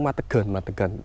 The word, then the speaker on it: Madegan: Bacanya tuh Madegan di daerah Polagan, Sampang.